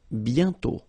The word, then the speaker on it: bientôt: And then bientôt, okay? Remember, you put this accent circonflexe, but you don't write it. You write it, but you don't pronounce it. And then the final T is not pronounced.